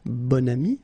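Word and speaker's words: bon ami: got this adjective okay and then you pronounce it bonami when you make this link second example bam so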